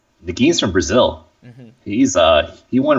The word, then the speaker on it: Nguyen: Nagin. I never knew how to pronounce it.